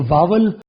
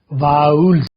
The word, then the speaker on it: vowels: इसको वोवेल आमतौर पे कहा जाता है। ये वोवेल नहीं है। इसे हम बोलेंगे वो्स। वोल्स। वी की हाफ लिफ्ट साउंड होती है।